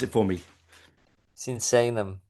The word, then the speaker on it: Sinsaenum: I can never say it properly you know senium. Am I saying it correctly? No. Pronounce it for me. Senum. Senum.